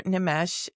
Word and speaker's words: Nimesh: So, here we are, Nomesh. And am I pronouncing your name correctly?